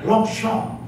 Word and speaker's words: Longchamp: Orang Prancis bacanya Longchamp. Orang Indonesia baca lontong.